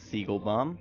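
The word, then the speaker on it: Siegelbaum: co-host this is Jake Siegel bomb yes that's how you pronounce it Siegel bomb and we have a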